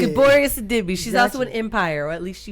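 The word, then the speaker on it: Gabourey Sidibe: This movie stars Mariah Carey, Monique, and Gaboria Sidibe. That's not how you say it. Gaboria Sidibe. Gaboria Sidibe.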